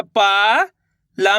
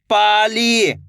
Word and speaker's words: पाली: देखिए किस तरीके से, पा मा की मात्रा पा, ला में बड़ी की मात्रा ली, तो मिलके बन जाएगा पाली।